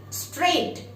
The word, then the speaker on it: straight: Straight. GH is silent.